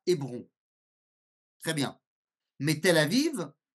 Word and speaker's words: Hébron: Quand est-ce qu'on va franciser ? Lorsqu'il y a une prononciation qui est difficile pour la langue française. Donc par exemple, Hévron deviendra Hébron.